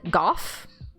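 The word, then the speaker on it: Gough: the talent ah this is uh goff now don't be mistaken just because he rhymes with cough this man is is truly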